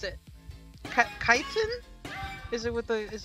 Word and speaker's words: chitin: Simon uh kitten I don't know how to pronounce it chitin is it with the is it is it chitin chitin okay yes awesome thank you redox that